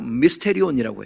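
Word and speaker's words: μυστήριον: 본문에 신비라는 단어가 나오는데요 이거 헬로 미스테리온이라고 해요 영어 발음하고 비슷하죠 근데이 미스테리는 무조건 감추어진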